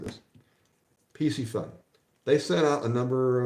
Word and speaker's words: Piscifun: bothers me pissy fun pisy fun if you can't even go to the website and figure out I mean they tell you how to pronounce it on their website PC fun it's not that hard how are you